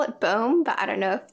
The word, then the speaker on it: Bombe: Because it's like bomb with an E on the end. I call it Bombe, but I don't know if that's just a little bit too pretentious.